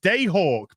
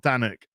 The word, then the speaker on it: Danak: movie or bat woman it's pronounced day hawk by the way okay day hawk not not danic uh day hawk uh